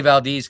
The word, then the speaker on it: Valdez: I say Valdez because Alaska, it's spelled Valdez, but it's Valdez, Alaska. Carl Vernon's fantastic.